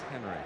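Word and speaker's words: Henri: Henry is it yeah it is Henry even though it's spelled the French way he's English just checking well you're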